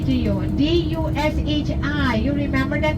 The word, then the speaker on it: Dushi: If I say Dushi to you, D-U-S-H-I, you remember that name? But you have to spell it.